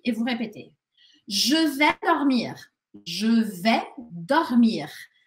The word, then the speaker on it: dormir: Je vais dormir. Je vais dormir. Important la prononciation du R à la fin.